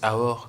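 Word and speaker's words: אור: Bon, ça se prononce Aor comme ça, mais en fait ça s'écrit comme ça.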